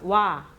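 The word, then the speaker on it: ཝ: 그 다음 와. 요 발음은 우리나라 와랑 똑같습니다.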